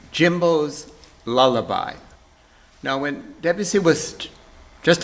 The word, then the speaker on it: Jimbo's Lullaby: the work is called jimbo's lullaby or perhaps in the french pronunciation jambo's lullaby debussy marks the score